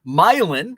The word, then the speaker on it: Milan: the same as orion myelin which is just not far from orient myelin is spelled like milan what else what other